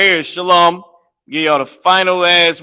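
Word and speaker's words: שָׁלוֹם: law okay shal Ma when you pronounce this law it's going to make this ah at the end is going to make it very small of a sound Shalom right now let me show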